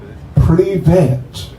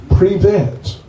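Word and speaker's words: Привет: You know how you say hi in Russian? Privet. You can say that. It's just 2 syllables. Privet.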